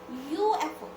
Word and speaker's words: UFO: Okay, UFO. So when we pronounce it, U, right? We pronounce Y. We don't pronounce U. We pronounce U, right? So this one pronounced as Y.